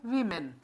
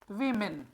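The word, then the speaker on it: women: वुमेन और ये है वीमेन। इसको क्या पढ़ते हैं, वीमेन। कंफ्यूज नहीं होना है, बड़ा सिंपल है, वी मेन। अब कहेंगे सर वुमेन ना, नहीं dear, the correct pronunciation is वीमेन।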